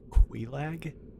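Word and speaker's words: Quelaag: We're about to go fight Kag. I did some googling actually, but I I realized that her name pronounced Quag, which doesn't make sense to me, but whatever.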